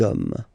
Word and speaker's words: hommes: You don't pronounce it, so you get des hommes.